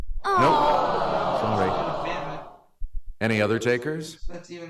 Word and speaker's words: Mamet: Mamet.